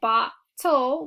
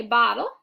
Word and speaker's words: bottle: going to be short we're gonna mark our T silent because we don't say bot toll we say bottle we're gonna mark our